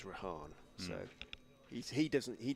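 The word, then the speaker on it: Rehan: out to rahan ahed I did ask rahan when he first came into the side last year how you know pronunciation he prefers he said his mom prefers rahan so he he doesn't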